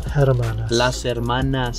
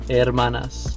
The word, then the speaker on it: hermanas: greenfield california it's irma that's not haraman hermanas say it hermanas see he doesn't pronounce the h yeah that's what i